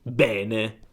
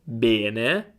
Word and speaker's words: bene: alcune parti della Sicilia, in realtà la E è aperta e quindi dicono bene, bene. Non so se riesci a sentire la differenza. Io dico bene, bene, loro dicono bene, bene, bene, bene, bene.